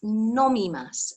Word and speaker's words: nomimasu: eat tabe and then the word for drink is nomimasu n-o-m-i and i always think of that if you need a little prompt for that that when you go out perhaps drinking you need to nominate a driver so you nominate a